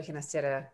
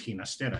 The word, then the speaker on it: Ginastera: Ginastera and he toward the end of his life preferred the Italian or Catalan pronunciation of his last name, Ginastera. Thank you, Gina. Thank you. Ginastera. No, it is Ginastera in Spanish.